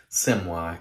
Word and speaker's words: Semois: I believe it's pronounced Semois, French, I think.